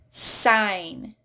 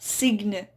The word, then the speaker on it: sign: Sign. Not signe. Silent G in there, sign.